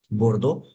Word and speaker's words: Bordeaux: इसका प्रोनाउंसिएशन है मार्शेई, बोर्डो।